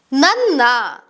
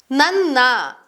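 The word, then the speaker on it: ನನ್ನ: Na is pronounced as a double na sound, which sounds like nanna, nanna, which means my.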